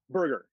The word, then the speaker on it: Berger: Berger. Howard Berger.